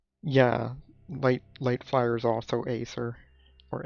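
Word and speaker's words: Aether: Yeah, light fire is also Acer. Or Esser. Or Eder. It's not dark. Alright, dark okay. Chicklings we don't have because that's not yet a thing. Yeah, Eder. Because it rhymes with redder.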